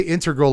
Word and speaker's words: integral: That is how the word is pronounced. Every time I say integral, I get people in the comments section like, it's integral. Like, no, that's a car. The Acura Integra is a car. Things are integral, like integrated.